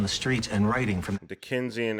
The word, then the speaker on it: Dickensian: Dickensian aspect. That's how you say it. What did I call it? Dixian?